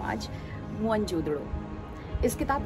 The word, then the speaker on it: मोहनजोदड़ो: उन्होंने जाना कि असल जो प्रोनंसिएशन है वो मोहन जोदड़ो है, मुआ मने मृत और दड़ा मने टीला, तो मोहन जोदड़ो हुआ मुर्दों का टीला।